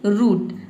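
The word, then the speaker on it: root: अब देखते हैं कि अगर डबल ओ किसी भी वर्ड में डबल ओ हो तो इसे हम क्या पढ़ेंगे? उ पढ़ेंगे। उ जैसे कि रूट। रूट में देखिए डबल ओ आया है। आर का र हो जाएगा। डबल ओ का हो जाएगा उ और टी का हो जाएगा ट। ये हो जाएगा आपका रूट।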